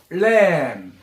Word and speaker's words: lamb: LAMB lamb. Lamb. 여기서 B는 묵음이라 그래요. 발음을 안 해요.